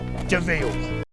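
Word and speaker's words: de Vil: devil luella de view he's spelled devil but it's pronounced deville it's spelled devil but it's pronounced deville okay that's completely different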